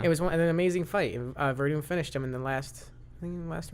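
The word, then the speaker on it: Werdum: Verdum. It's pronounced that way, but it's spelled with a W, you idiot.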